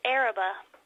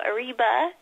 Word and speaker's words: Arriba: and asked what do you say it's just Arabah it's just kind of you know just sounded out Arabah you know no reason to go Arriba just Arab a small crazy little town and